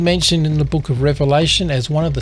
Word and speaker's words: Revelation: I used to say Revelations for so long. But it's just one revelation. Revelation.